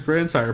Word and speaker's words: Grandsire: ] episode so uh anyway uh the lucas grandsire podcast i hate that every time i type out the lucas grandsire podcast my google notes tries